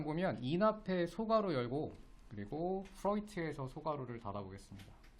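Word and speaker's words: Freud: 프트가 어 프로이트 프로이트 요게 프로이트라고 읽어요. 독일 사람 이름이라서 오이라고 있어.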